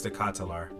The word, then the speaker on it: De Ketelaere: go on YouTube and figure out how to say his name right but I'm pretty sure it's the catalar so Ian released two